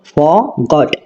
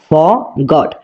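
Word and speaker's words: forgot: হবে না ঠিক আছে আর এর উচ্চারণ এখানে হবে না ক্লিয়ার আমরা কিভাবে উচ্চারণ করব ফরগট ফরগট আই ফরগট মানে আমি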